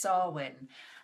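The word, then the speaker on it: Samhain: introduced samain as its spell but it's actually pronounced sarwan and they it's actually the end of the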